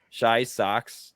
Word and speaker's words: Shy Socks: Shy Socks, like Chicago White Sox 98.